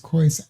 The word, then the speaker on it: Khoisan: Those are the ones I misspelled of Southern Africa, pronounced Khoisan.